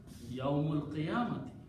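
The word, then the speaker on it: يوم القيامة: So he says, if I don't pronounce alif and pronounce yawmul qiyamati, it's fast to pronounce, sounds has rhythm in it. It's beauty of the tajweed in it. So he will pronounce yawmul qiyamati. So he does not pronounce this alif.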